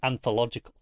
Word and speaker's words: anthological: And that's got a different emphasis as to anthological, because You're right. It's on the second syllable in that one, whereas anthology is on the first syllable.